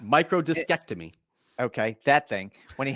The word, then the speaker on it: microdiscectomy: You and I actually debated about the proper way of pronouncing that. I think you might have gotten it, but I'm going to go with microdissectomy. When he had Nope, that first one, absolutely not. Microdiscectomy.